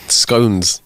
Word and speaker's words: scone: cream and such and scones. So, it's like a scon or scones.